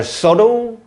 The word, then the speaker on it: subtle: 끊어주고 That are subtle and complicated. 약간 미묘하고 얘들아. 미묘한. 칠판 보세요. 여기 B가 묵음입니다. subtle 아니에요. subtle 아니고 subtle. subtle이야.